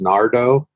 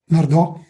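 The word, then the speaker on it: Nardò: countryside, just outside of, I believe it's pronounced Nardo. Nardo, okay, yeah.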